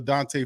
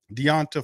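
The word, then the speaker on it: D'Onta: on the run for Dante Foreman Deonte Foreman of how he pronounced his name all right so they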